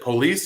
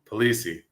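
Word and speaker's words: Polise: Penelope burban uh Mr uh is it police I'm sorry I I should have asked how the your last name mispronounced my apologies uh poliy polii polii with Penelope so tell us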